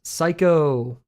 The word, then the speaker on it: psycho: Psycho. I think hustle. Oh, you don't pronounce the P?